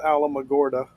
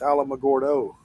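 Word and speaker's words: Alamogordo: It's not Alamagorda. What is it? It's Alamagordo.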